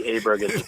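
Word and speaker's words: Ludvig Åberg: It's not easy because he's got the A and the Aberg. Well, they also they kept pronouncing it differently constantly, like as it.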